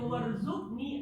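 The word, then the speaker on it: وَارْزُقْنِي: Kalau kita baca warzukni artinya bukan rezeki. Yang rezeki mana? Warzuk. Nah itu kalau apa? Kalau tidak berbunyi qalqalahnya berarti kafnya ketek. Kalau berbunyi qalqalahnya berarti kafnya ada.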